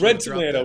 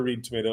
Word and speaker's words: ReadTomato: Well, it's red tomato. We we we do pronounce it red tomato, but it's uh you know, phonetically a lot of times you hear Reed tomato as well, but it's